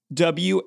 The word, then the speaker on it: Whodunit: W-H-O-D-U-N-I-T. Oh, it's Whodunit, Jared.